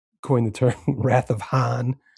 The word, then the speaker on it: Hahn: the term "Wrath of Hahn" because it rhymes with Khan.